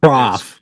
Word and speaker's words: Prof: fan, go listen to more of Pruff. or Prof or however you pronounce it. It's Prof.